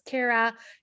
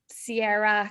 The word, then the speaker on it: Ciara: pronounced kira's name correctly her name is kira it's a version of kiron which is an irish name and you know does it matter that people are calling her sierra clara claire what not